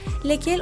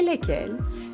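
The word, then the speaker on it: lesquelles: Bon, les pronoms interrogatifs lequel, laquelle, lesquels et lesquels. Lequel pour masculin singulier, laquelle féminin singulier, lesquels masculin pluriel et lesquels féminin pluriel. Faites attention, pour les pluriels, la prononciation est identique, lesquels et lesquels.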